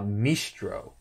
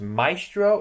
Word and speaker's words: Maestro: a version of uh mistro or i think it pronounced that it's maestro and i'm i think it's maestro which is an alternate